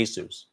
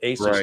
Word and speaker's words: ASUS: He goes, "Um, I say ASUS." Okay. Well, that's all that matters to me. If you're the president of ASUS North America and you call it ASUS, that's what I'm calling it.